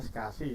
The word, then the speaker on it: SCSI: Sedangkan untuk SCSI, saya itu bacanya SCSI ya, bukan, walaupun tulisannya SCSI itu kebanyakan pada ranah teknis itu biasanya menyebutnya dengan istilah SCSI, Small Computer System Interface.